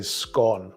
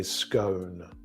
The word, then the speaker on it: scone: It would make sense if those rolls were like sort of sweet, like I would say scone, but other people say scone.